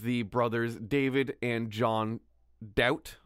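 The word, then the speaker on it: Daut: Such is the case of the brothers David and John Doubt. I believe that's how you say it. Dot. D-A-U-T.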